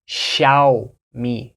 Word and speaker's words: Xiaomi: the first one is Shia me shiai so in Chinese I don't speak Mandarin but it is you open your mouth more in the first part Shia me shiai so I've heard some